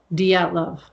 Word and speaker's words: Dyatlov: All right, how do you pronounce this? Dyatlov.